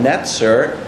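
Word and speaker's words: נצר: Netzer sounds very similar to the Hebrew pronunciation of Nazareth.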